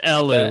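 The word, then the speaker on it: Elw: No, it's supposed to be elf, but they just decided to put a W in there because they were being lazy with the translation. Oh, the more you know. I'm not looking up how to say that. Yeah. Well, they've got pointy ears, like they are elves. Yeah. They're pronounced Elu.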